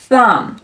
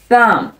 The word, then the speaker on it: thumb: 做 thumb thumb thumb，注意末尾的 b 是不发音的 thumb thumb。